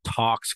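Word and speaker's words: TALX: Equifax acquired a company called Tox Corporation in 2007. That's spelled T-A-L-X.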